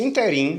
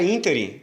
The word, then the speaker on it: ínterim: Se a pronúncia fosse interim, como muita gente faz, o que constitui uma silabada, aí sim eu não deveria acentuar. Mas a palavra ínterim é uma palavra pró-paroxítona, a antepenúltima sílaba é acentuada, então recebe sim acento gráfico.